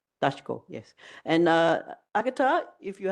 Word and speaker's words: Daszko: Agata, do I pronounce it Daszko? Daszko, yes.